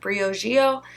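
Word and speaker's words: Briogeo: love Bree Oh Geo I think it's Brio geo people pronounce it Breo geo prettier Yoshio though so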